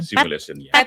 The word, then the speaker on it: PhET: PhET atau PhET ya. Tulisannya PH, tapi ternyata bacanya PhET. PhET ya. Oh, PhET bukan PET ya.